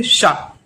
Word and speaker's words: श: अपनी जिह्वा को तालु पे स्पर्श करिए और बोलिए शा।